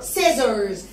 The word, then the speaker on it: scissors: لا بنقولها بسرعه بقى، سيزرز سيزرز سيز. بصوا يا ولاد سيز اهي، S C I double S تبقى اسمها سيز سيز سيز. خلي بالكم ان السي هنا ما اتنطقتش كأنها الاثنين دول مع بعض بنقولهم س سي سي